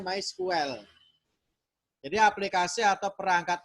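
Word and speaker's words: MySQL: dibuat menggunakan May Well my SQL tulisane bacanya my school Hai jadi aplikasi atau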